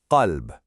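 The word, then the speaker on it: قلب: But if you mispronounce that very first letter, the deep cough by producing it way too far forward in your mouth so it sounds like a calf, you've completely corrupted the meaning.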